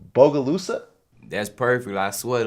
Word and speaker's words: Bogalusa: so you're actually from tell me if i pronounce this right bogalusa that's perfect i swear like you you're the first person to actually pronounce it right bogalusa louisiana right small city right i guess it's